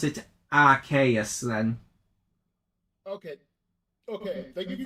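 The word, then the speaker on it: Arceus: I hear Arius and Archus and I pronounce it as Arus.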